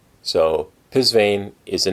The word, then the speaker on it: Psvane: and and she said this is how it's pronounced it's pisan so pisane is the name of the company these are